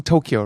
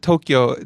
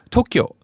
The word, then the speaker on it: Tokyo: introduction of Ohio Tokyo now my pronunciation of Tokyo tends to be a little towards a native English speaker Tokyo and it's very amusing for Japanese people to hear this because it's quite different than the actual pronunciation which again has holding in the both syllables of the O so it's not Tokyo it is yeah if you can hear the difference hold it and can